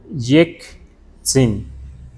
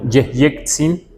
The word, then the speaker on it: Yeyetzin: Pero si Yeyetzin, así lo escriben, la mejor escritura y la mejor pronunciación es Yektzin. Esta es N. Lo que entiendo aquí, Yeyetzin, nosotros pronunciamos Yektzin, y no por variante, sino es lo mejor escribir así.